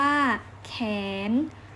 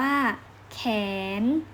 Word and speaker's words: แขน: ที่ 3 คำ ว่า แขน ข สระ แอ น หนู ข แอ น อ่าน ว่า แขน แขน คำ ต่อ ไป คำ